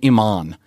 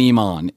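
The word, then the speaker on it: Eamon: it's not British actually it's Irish Bridget and Iman on okay Amazon you can watch it's it's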